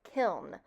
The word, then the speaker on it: kiln: I first want to emphasize the spelling and pronunciation of kiln. It ends in the letter N.